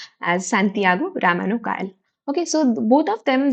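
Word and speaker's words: Santiago Ramón y Cajal: It is pronounced as Santiago Ramano Cajal.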